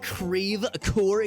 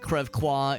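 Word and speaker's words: Creve Coeur: Don't you mean Crevecoeur? So here in St. Louis, that's how we pronounce everything. We pronounce our French places like very phonetically, like deliberately. It's very odd. It's not Crevquois, it's Creve-Coeur.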